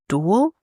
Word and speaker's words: Duel: shape of fluidity by Dutch band duel. It's spelled like tulle but with a d.